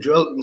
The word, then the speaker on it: Joelinton: Well, that's how the Portuguese pronounce it. If you listen how Bruno speaks about him, he calls him Joelinton, so I'll take their word for it.